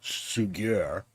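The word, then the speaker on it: Suger: Fast forward to the 12th century, when Abbot, it looks like sugar, but I'm sure it's pronounced in French, so Sugier, a close advisor to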